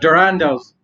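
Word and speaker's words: Durendal: But I'm really looking forward to Durando's.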